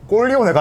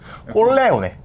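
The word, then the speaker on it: Corleone: 근데 발음을 제대로 해야 되는 게 꼴리오네가 아니라 꼴레오네. 꼴레오네. 꼴레오네. 예. 잘못 발음하면 꼴레오네다. 잘못 발음하면 약간 이상해질 수 있어서.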